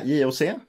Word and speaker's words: JOC: Yeah, JOC.